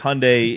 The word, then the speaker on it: Hyundai: You need to say it right. Yeah, it's Hyundai. Hyundai.